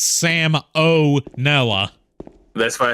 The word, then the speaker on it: salmonella: to watch some salmonella no that's not Sal manella that's Sam Oella that's what I said